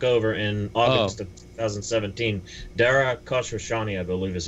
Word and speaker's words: Dara Khosrowshahi: They've advertised extensively as well under the leadership of Travis Kalanick, Dara Khosrowshahi's predecessor.